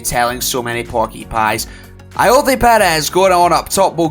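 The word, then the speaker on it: Ayoze Pérez: That's right, Ayoze Perez. 2 Zs, both pronounced different.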